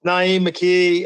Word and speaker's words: Na'im McKee: what's up man you got it right it's Naim McKee I'm in the house yep two-time Alum of